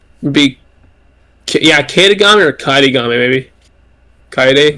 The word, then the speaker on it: Kaedegami: Uh, it's so it's Kaid Kaid Gami. So like Kaid Kaid like the actual Japanese name Kaideday with Gami slapped on the end.